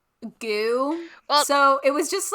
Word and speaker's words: GU: want product placement i think we should consider goo i don't know if you would know what